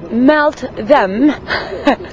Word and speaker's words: Meltem: So I'm gonna melt them. The real pronunciation of your name. My name. Oh. Melt them. Melt the hearts.